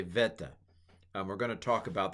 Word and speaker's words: beta: So I learned beta, beta test stuff. This is a beta test of pronunciation, but it was likely v at the time, more of a v sound at the time of the New Testament, vita. I'm sorry, veta. Let's say veta.